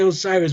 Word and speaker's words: Osiris: Isis, Hathor, whatever you want to say, Osiris, Wizard, which is the proper pronunciation.